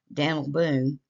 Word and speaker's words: Daniel Boone: The railroad yard and community of Daniel Boone, that's really how it's pronounced here, was named in recognition of the explorer.